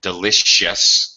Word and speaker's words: delicious: similar work right but in English delicious is definitely an SH sound were supposed to be